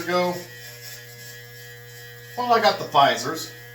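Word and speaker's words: Pfizer: well I got the fisers the P fisers if you want to say it like it's spelled let me tell you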